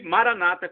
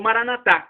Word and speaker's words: Maranata: E Maranata, como dizem os evangélicos protestantes, com a tônica na penúltima sílaba, ou Maranatá, como dizemos nós católicos, com a tônica na